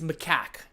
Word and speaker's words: macaque: What I said, it's macaque.